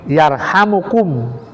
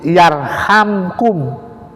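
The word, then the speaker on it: يرحمكم: Ada yang dibaca yarhamkum, ada jadi mimnya itu dijazmkan, dimatikan. Ada yang dihidupkan, dirofa, yaitu yarhamukum. Nah, irhamu man fil ardi yarhamkum, itu ada juga dirofakan yarhamukum. Nah, ini dua versi cara membacanya.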